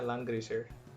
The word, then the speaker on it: Langrisser: Is that how you pronounce it? Yeah, Langrisser.